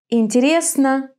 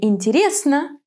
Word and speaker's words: интересно: Why is it on the first syllable in холодно, on the third in интересно, and on the last in хорошо?